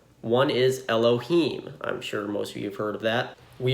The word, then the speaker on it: Elohim: When not praying or reading from the Torah, we generally say Elohim, substituting a K for the H.